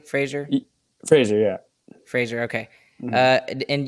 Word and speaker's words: Fraser: Fraser, yeah.